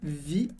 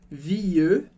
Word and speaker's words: vie: Então eu digo je change de vie, mas aí de novo em vie, esse E não é pronunciado. Eu não falo vieux. Essa era uma pronúncia bem antiga do francês. Aqui a gente diz vie.